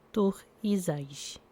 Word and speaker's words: Thurisaz: Nome: Tur-Izais. Pronúncia: Tur-Izais.